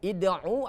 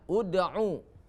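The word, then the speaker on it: اُدْعُ: Bukan id'u atau ad'u, tapi dibacanya ud'u.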